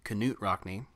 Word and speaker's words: Knute Rockne: found out it's pronounced Knut Rockne really yeah the K is not silent but it tell us